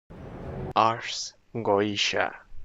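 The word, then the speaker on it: Ars Goetia: Ars goa.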